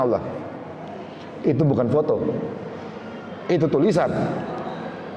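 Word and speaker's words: الله: Itu ada tulisan alif lam lam ha. Allah tulisannya. Allah. Itu alif lam lam ha. Bacanya Allah.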